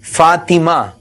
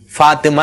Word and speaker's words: فاطمہ: بھی نہیں ہونا چاہیے۔ اسی طرح فاطمہ، یہ صحیح تلفظ ہے، فاطمہ نہیں ہے۔ تو جو مدنی منوں